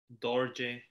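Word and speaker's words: རྡོ་རྗེ: j in its name dorje yeah perfect or j shouldn't it be doj it's not yeah but this is a very unique exception when where they are the head letter ra gets pronounced oh my god he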